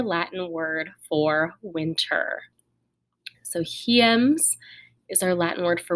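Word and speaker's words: hiems: this is our latin word for winter so he ems is our latin word for winter and make sure you are practicing the pronunciation yourself repeat after me so he ends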